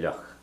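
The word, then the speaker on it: fhliuch: So because icha is feminine, you put a shevu on the f there, and becomes the fh is silent, so you just hear the luch part of it. Icha luch.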